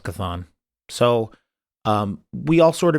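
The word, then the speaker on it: Chthon: the darkhold introduced um i think it's pronounced kathon i'm going with kethon so um we all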